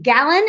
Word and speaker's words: Gallen: Okay, I am so excited because today we have a guy named Jake Gallen, and he told me you say it like a gallon of milk, but it's spelled Gallen.